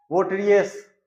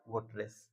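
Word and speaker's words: votaress: अब इसका प्रोनाउंसिएशन देखिए, वोटरियस, वोटरियस, तो ये टफ हो जाता है, इसका प्रोनाउंसिएशन टफ हो जाता है, इसको स्मूथ बनाया गया वोटरेस।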